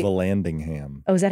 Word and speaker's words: Vallandigham: Vallandigham. Oh, is that how you say it? Vallandigham.